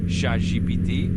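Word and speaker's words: ChatGPT: So in France, people would probably pronounce it more like shaj GPT with that French sha meaning cat. So you kind of end up sounding a bit like cat GPT, which is kind of fun.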